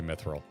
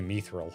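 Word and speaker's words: mithril: probably be wrong, but I always pronounce mether like myths. Like myths of the realm and not like me seeks. We had this exact conversation last week cuz I say Myithil. You say Meil.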